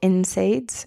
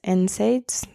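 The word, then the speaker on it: NSAIDs: or nonsteroidal anti-inflammatory drugs or insides insides that's people pronounce it um such as IB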